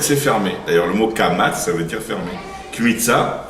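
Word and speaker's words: קמץ: Mais en tout cas, de toutes les manières, de la prononciation répandue chez les Sefaradim, il n'y a pas de différence entre le Kamatz et le Patar. Les deux, ils se prononcent A.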